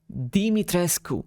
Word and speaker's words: Dimitrescu: is actually a real romanian surname and it's pronounced dimitrescu although both in the japanese and english version